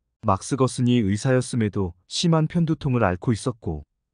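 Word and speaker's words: Gerson: 거은 박사를 자주 말씀하셨다 아버지가 발음으로 막스 게르손이었고 지금 그게 막스거슨이었음을 알게 되었다 막스거슨이 의사였으면 심한 편두통을 앓고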